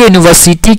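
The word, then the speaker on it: university: अ यूनिवर्सिटी है ना, देखो भले ही यू एक ववेल है, लेकिन इस शब्द में ध्वनि य की है। ठीक है, किसकी है, य की है, जो कि एक कॉन्सोनेंट साउंड है, इसलिए यूनिवर्सिटी के साथ ए लगेगा।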